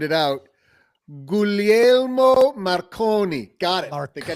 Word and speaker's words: Guglielmo Marconi: Well, the elder we pay homage to today is Googly Mo Macaroni, who, That is I get that? probably not how you pronounce that. that's not it. Let me just sound it out. Guglielmo Marconi.